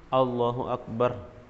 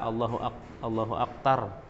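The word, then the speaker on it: الله أكبر: Jadi jangan ada sampai salah huruf Allahu Akbar, atau banyak tadi digantinya dengan ta, misalnya dia melafazkan dengan ta Allahu Aktar.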